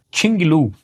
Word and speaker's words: QINGLV: Esse é o QL-MT-01, Qinglu, esse é o nome, a pronúncia em chinês desta marca aqui.